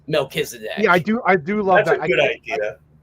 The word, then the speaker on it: Melchizedek: Because when they look at it, they're going to think Melchizedek. And I'm like, well, no, it's Melchizedek.